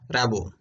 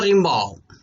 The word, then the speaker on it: Rimbaud: It may pronounce in French Rimbaud, whatever.